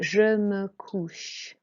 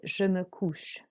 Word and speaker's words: je me couche: Okay, so the OU is an OO sound. You really make a round motion with your mouth. You open all your mouth out. It's an OO sound, it's a deep OO.